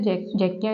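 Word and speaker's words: Czechia: Next है जैकिया, इसकी जो कैपिटल है वो है प्राग। अब यहाँ पर अगेन जो सी है वो हमारा क्या है, साइलेंट है, हम इसको प्रोनाउंस नहीं करेंगे।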